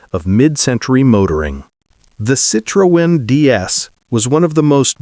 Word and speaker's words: DS: Its name DS, pronounced DS in French, meaning goddess, was perfectly chosen.